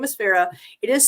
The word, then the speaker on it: Farrha: story but yes her name her name is Farah it is spelled um it was is spelled the way